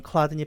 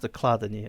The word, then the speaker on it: Chladni: I think it’s pronounced “K-ladni.” I guess it’s a German name.